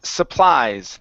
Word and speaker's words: supplies: this this word here instead of su pleas the word is pronounced supplies the stress is on the end and instead of saying Sue we say s supplies supplies okay very good